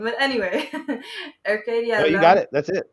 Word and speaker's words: Arcadia: but uh luckily AR Arcadia wow butchering that pronunciation but anyway Arcadia you got it that's it Arcadia Oh yay